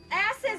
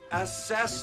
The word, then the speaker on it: assess: Okay, Ass is the window. Okay, stop. Stop. What? It's assess the window, not ass is the window. You put the wrong emphasis on the wrong syllable.